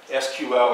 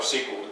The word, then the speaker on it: SQL: in relation database systems called SQL or sequel and you first learned it attendance a SQL sequel has fewer syllables it stands for structured